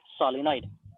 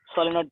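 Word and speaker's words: solenoid: We will pronounce it एज सोलिनॉइड, okay, सोलिनॉइड pronounce करेंगे।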